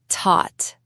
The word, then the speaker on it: taught: He taught. The past of teach. That is a tricky one. Yes, it is spelled Taught. It's a strange word, but it sounds like taught.